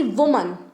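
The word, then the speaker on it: women: जैसे मैन, मैन का जब आप प्लूरल बनाओगे तो वो हो जाएगा मेन, ठीक है, प्रोनाउंसिएशन पर भी ध्यान दो, man, main. Similarly वुमन, वुमन यानी कि एक औरत, विमेन, ओके, विमेन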